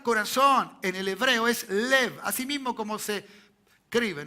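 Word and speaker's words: לב: La palabra corazón en el hebreo es lev, así mismo como se escribe, ¿no?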